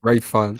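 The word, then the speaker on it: Ralph Fiennes: I would say fine, Ray- but maybe I think it it's- is Fiend. Yeah, Ray Fiennes. Hold on. I know who you mean. Fines.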